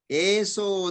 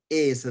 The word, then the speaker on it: esa: So when you say eso dhammo sanantano, the meter, it violates the meter. So therefore it is pronounced as esa dhammo sanantano.